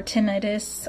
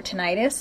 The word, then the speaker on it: tinnitus: in the ear or tinnitus or tinnitus however you want to pronounce it feeling a fullness